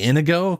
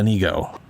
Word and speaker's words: Inigo: I I always want to say Inigo cuz that's that's how my brain wants to pronounce it. But it's uh Anigo.